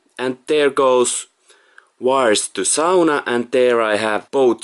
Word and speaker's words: sauna: people in Finland but it's supposed to say Sona third is from here so it's sufficient sound